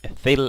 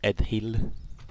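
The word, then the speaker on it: Ost-in-Edhil: But I do know that you pronounce the DH in Sindarin as the, and therefore it is Ethil and not Edhil.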